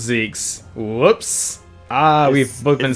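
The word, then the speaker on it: Zieks: It's pronounced Zeke's. Whoops. Ah, we've both been saying it the wrong way for the longest time. All of them bound by invisible. I like Zikes better, though.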